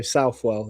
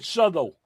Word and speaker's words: Southwell: I just say it how it's spelled. So, Southwell is what I go for, but I'm not not offended either way. I said Suttle.